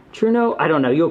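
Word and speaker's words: Trueno: say i can't remember people corrected me it was like true no truno i don't know you'll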